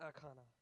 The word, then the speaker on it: Akana: our whose creators named Anna how do you pronounce that last name puppy an econo Anna Akana yeah an econo o connor and connor connor